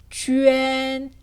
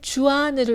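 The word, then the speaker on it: juan: 쥐엔. 그렇죠. 이 발음을 주안으로 읽으면 틀리게 됩니다.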